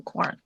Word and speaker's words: Quarren: How do you pronounce that? Quarren? Yeah. Oh, Quarren.